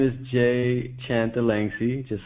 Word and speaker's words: Chanthalangsy: see the last name you can just pronounce it the way it's spelled and I think you